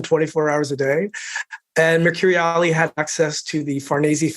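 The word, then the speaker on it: Mercuriale: Mercuriali. Excellent. I wrote it phonetically because I was like, no, I will never be able to say this.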